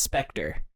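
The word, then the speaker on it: Spectre: spelled I look up how it's pronounced it's specter pronunciation there we go this is great play it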